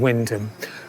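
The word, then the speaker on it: Wymondham: easily apprehended uh in Windom. Windham's one of those Norfolk words which um is spelled differently to the way it sounds.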